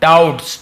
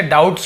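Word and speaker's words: doubts: ठीक है, इसे डाउट्स पढ़ेंगे, ये बी साइलेंट होता है लेकिन पढ़ते हैं इसे, लिखते समय लिखते हैं लेकिन इसे पढ़ते नहीं है। डाउट, ठीक है, डाउ ब नहीं पढ़ना आपको, केवल डाउट्स।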